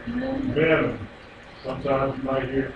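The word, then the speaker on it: מם: Letter Mem is pronounced like an M in our alphabet.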